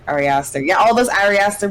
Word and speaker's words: Ari Aster: I believe it's Ari Aster. Is that how you say his name, Enzo? Yeah. Ari Aster.